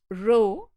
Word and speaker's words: rho: distributions correlation coefficient Rho this is a Greek letter it is pronounced Rho this is equal to